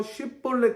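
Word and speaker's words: 쉽볼렛: 섞여서 쉽더라 이렇게 되는 건데 에브라임 사람들은 h 발음이 안 돼서 쉬폴레 대신 싯볼넷 이렇게 이야기를 했었습니다 마치 의가 안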